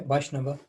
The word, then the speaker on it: Vaishnava: The Vaishnav, should I pronounce Vaishnav, Vaishnava? Yeah, Vaishnava.